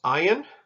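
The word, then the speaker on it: ayin: an essence then here's ayan ayan is another silent letter just like we had a life that was a silent letter in your transliteration of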